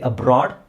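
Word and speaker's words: abroad: ಓ ಅಂತ ಉಚ್ಚಾರಣೆ ಬರುತ್ತೆ ಇಲ್ಲಿ ಬ್ರಾಡ್ ಅಂದ್ರೆ ಅ ಸೌಂಡ್ ಬರುತ್ತೆ ಇಲ್ಲಿ ಅಬ್ರಾಡ್ ಇಲ್ಲಿ ಕಬಡ್ ಇದು ವಿಚಿತ್ರವಾಗಿದೆ ಕ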